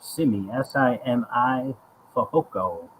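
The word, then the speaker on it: Simi Fehoko: you get some burns simmy s-i-m-i foco i believe that's how you pronounce it i'm sorry this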